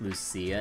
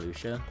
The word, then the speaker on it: Lucia: Oh, I heard her name is like so it's pronounced Lucia, not Lucia.